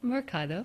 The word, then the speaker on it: Mercado: Yeah, Mercado.